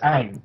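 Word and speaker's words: Aang: like it's just like okay how do you pronounce the main character of Avatar's name Ang it's Ang but yeah but but if you're M night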